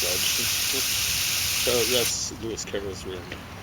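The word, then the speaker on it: Dodgson: I think he pronounced it Dodd, but it should really be pronounced Dodson.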